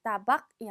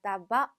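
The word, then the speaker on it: tabac: 밥 아빠 밥 집 마지막 3 는 발음이 되지 않습니다 따 박이 아니라 따 봐 라고 읽어 주셔야 되요 자 그 다음 담배가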